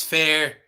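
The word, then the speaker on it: Feyre: Okay, the person's name is Fair, spelled different, so that might get a little confusing when I pronounce it, but Fair is the name of the main character, it appears.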